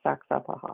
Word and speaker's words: Saxapahaw: It's it's phonetically spelled uh the same way, Saxapahaw.